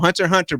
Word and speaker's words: Hunter x Hunter: it's not that's called hunter hunter black black people there you go the x is silent but i'm gonna keep